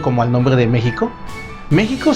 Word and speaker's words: México: el nombre de méxico méxico se escribe con equis pero se pronuncia con jota en el caso de